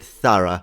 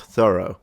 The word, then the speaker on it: thorough: thought though through Thor I would read it thorough not thorough like he did I would read it